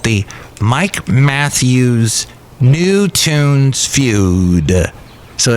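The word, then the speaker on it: Nue: And that's spelled N-U-E. New.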